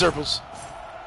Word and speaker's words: xurpils: Otherwise, if xurpils or whatever it's called, I can't pronounce the name. It's xurpils.